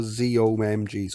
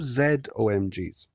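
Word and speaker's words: ZOMG: of oh my god or z omgs or zed omgs however you want to pronounce it no not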